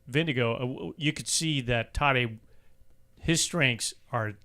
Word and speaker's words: Tadej: Tadej does rhyme with bad day.